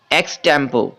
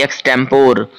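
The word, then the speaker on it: extempore: चलिए अगले वर्ड की तरफ बढ़ते हैं दोस्त, और हमारा अगला वर्ड है एक्सटेम्पो। यहां पर आप आर को साइलेंट कर दोगे, एक्सटेम्पो बोलोगे ना कि एक्सटेम्पोर।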